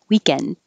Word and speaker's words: weekend: two syllables evening weekend so the i don't release the d unless there's a word after it with a vowel like this weekend is awesome weekend is you'll hear it but by itself have a good weekend hold your d weekend and this will sound